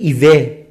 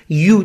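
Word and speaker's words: ewe: شما کلمه اولی رو شاید بگید ایوه، در حالی که چیه تلفظش؟ یو، دقیقاً یو شما، این گوسفند ماده است، یعنی یو شما ضمیره.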